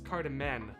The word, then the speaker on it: cardamom: Oh, was I mispronouncing it? You probably recognize it as being pronounced as cardamom.